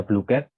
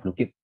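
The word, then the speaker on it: Blooket: Ini ada BlueCat. Oh, BlueKit yang bacanya BlueKit.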